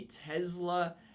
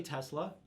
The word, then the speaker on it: Tesla: he's uh he said he actually pronounces it with a z so you are the